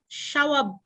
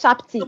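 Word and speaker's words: shabti: We have it as a shawabti. Shawabti, yes, shapti, yes, shapti, yes, shawabti or shapti, yes, both are right.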